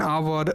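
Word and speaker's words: hour: तो यहाँ पे देख सकते हैं, यहाँ पे ऑनेस्ट है, ghost and hair and आवर, what and where. तो यहाँ पे वर्ड सारे अलग है बट द साइलेंट है।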